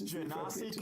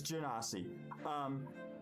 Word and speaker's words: Genasi: It's Genasi confirmed D&D Beyond. It has a pronunciation button. Oh, cool. I'll take it. It's Genasi.